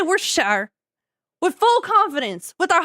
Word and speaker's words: Worcestershire: We just say Worcestershire. when we be cooking, we just say Worcestershire.